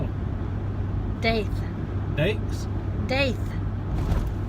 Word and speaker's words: Daith: Daiths? Daith. Okay. Like faith with a D.